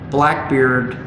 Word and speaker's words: Blackbeerd: Interestingly, Blackbeerd is spelled B-L-A-C-K-B-E-E-R-D. Correct. Just the way it's pronounced. Just the way it's pronounced. Beard. Blackbeerd. Beard.